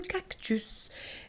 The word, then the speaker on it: cactus: dans certains en commun on peut prononcer le s final exemple cactus mais il faut pas